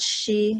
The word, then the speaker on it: Xi: Yeah, so in Chinese it's Oh, called Shi, like Shi Wang. But Hope, yeah, no one can such a pronounce pretty she.